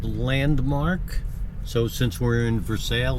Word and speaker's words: Versailles: So it's spelled like Versailles, and I know that, but it's pronounced Versailles.